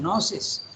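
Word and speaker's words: gnosis: as I said gives the word noses gno s-i-s you don't pronounce this and uh he also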